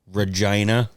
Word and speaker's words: Regina: name either of you can think of um Regina that is how they pronounce that city in Canada I know it is really it's it's spelled Regina but pronounced Regina because they're disgusting they're perverts yeah imagine imagine